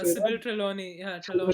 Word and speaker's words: Trelawney: Sybil Trelawney, yeah, Sybil Trelawney.